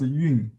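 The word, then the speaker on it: 韵: They pronounced as yun.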